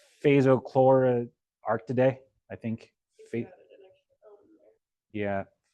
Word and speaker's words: Phascolarctidae: Ones with the koalas, which let me try to pronounce. Phasochlorarctidae, I think. Yeah, Phascolarctidae.